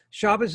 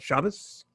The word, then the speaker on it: Shabbos: that it does this it kind of squishes it together comes out shabbos um and um actually